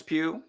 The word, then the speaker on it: Pugh: played by i always forget her name is pew yeah she's great say her name again florence pugh yes and jeep man florence p she's amazing